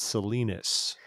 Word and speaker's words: Salinas: There's a city there's a city with the singular spelled the same way in Utah called Salina. That's probably why I say it's Salinas. But in California, the city there is called Salinas.